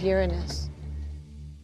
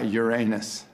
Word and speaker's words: Uranus: people are embarrassed by Uranus Uranus yeah I pronounce the planet's name Uranus which is very likely closer to the original pronunciation of the name of the god after whom it was